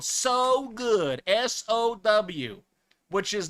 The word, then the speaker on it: Sow: All right, so the peach rings, you can get those at Walmart's nationwide. This one is called So Good, S-O-W, which is not pronounced so. It's actually sow, like a pig, or son of Waiachi